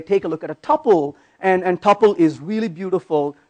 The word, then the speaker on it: tuple: And a tuple, or some people mispronounce it as tuple, but a tuple basically is a very lightweight object which is just a collection of data.